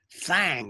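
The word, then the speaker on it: thang: why that is but there's a certain thing fang is the way it's pronounced t-h-a-n-g there's a certain thing that's very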